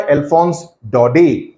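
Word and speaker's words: Alphonse Daudet: lesson it's written by alons do okay that's how it's pronounced in English in French T is silent do and do okay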